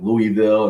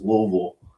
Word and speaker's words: Louisville: And I kept on saying like Louisville, and people, no, that's not how you say it. It's Louisville.